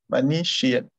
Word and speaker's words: manichéenne: Ça s'écrit manichéenne. Manichéenne.